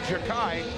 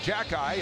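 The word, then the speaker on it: Xhekaj: I was calling him Jakai earlier, but listening to the Montreal Canadians uh uh broadcast where his brother plays for Montreal, they're calling him Jackie.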